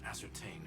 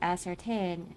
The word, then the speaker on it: ascertain: You know, I said ascertain the wrong way a lot cuz it's spelled with a or as and certain, right? But for some reason, I keep forgetting the s. So instead of saying asertain, I for some reason say as certain.